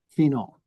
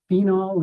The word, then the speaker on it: phenol: to be four Romo phenol some people pronounce it phenol as a long e other pronounce it a short e as in phenol does anyone work in